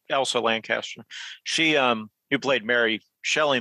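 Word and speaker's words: Elsa Lanchester: Now, as far as the acting, so again, Elsie Lancaster. I know I'm getting her name wrong. Yeah, Elsa Lancaster.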